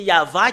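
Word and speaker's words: יהוה: que nous voyons que c'est faux le terme y avit parce que c'est pas dans la prononciation et euh normalement ça doit être Yav et c'est VH la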